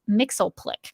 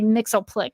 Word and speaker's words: Mxyzptlk: of the Mxyzptlk, and in the series, to note, they say his name is Mxyzptlk. So we're going to I'm going to try to remember to say Mxyzptlk when I read his name here. But that's a very common mispronunciation of Mxyzptlk, by the way. Like I hear that all the time. Yeah, and I guess Super Friends is to blame for that.